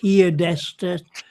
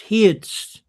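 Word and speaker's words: heard'st: I heardst I heardest It's not heardest. People take that {apostrophe} s t as being est. It's not. It's heardst.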